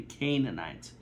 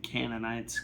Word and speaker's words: Canaanites: It's supposed to be Canaanites. But that's not going to stop me. I'm going to continue saying Canonites because that's just that is how I want to pronounce that I I like canonites.